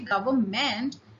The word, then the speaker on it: government: Okay, although this N is silent and we just say government, but here remember to put in this N.